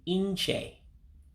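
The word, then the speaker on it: nche: So again, that N is an actual sound. That's why I put in the pronunciation on your screen, E-N, so you remember to say it. So it's N, and C-H-E basically means C-H-A-Y in how we pronounce it in English.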